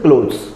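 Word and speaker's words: clothes: अब एक होता क्लोथ्स, यहां पे देख लो, इसका प्रोनाउंसिएशन क्लोथ्स, डॉ का साउंड होता है, देखो क्लोथ्स, ठीक है।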